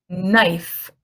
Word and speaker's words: knife: picture below what is this a picture of knife it is a knife what letter is silent okay how do we make that plural